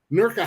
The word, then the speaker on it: Newark: anywhere because yeah because in Newark Ohio nurka high let me say it right America high in